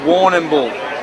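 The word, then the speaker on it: Warrnambool: felt a bit weird warren and bull is um a way of saying it and uh yeah chad you want to get in there and um you try warren bull there you go exact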